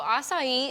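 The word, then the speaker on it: açaí: was kind of concerned about the word aai asai what is the correct way to say it and it I pronounce it right yeah totally so assai is actually from South America it's a little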